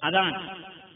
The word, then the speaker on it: അദാൻ: നമ്മൾ ഇതിനെ അറബിയിൽ പറയുക അദാൻ ചിലർ അസാൻ എന്ന് പറയും അതാ ഭാഷ ഭാഷാ ഉച്ചാരണത്തിലുള്ള പ്രത്യേകതയെ മാത്രമാണ് നമ്മൾ കണക്കാക്കേണ്ടത് അദാൻ എന്ന് പറഞ്ഞാൽ പ്രഖ്യാപിക്കുക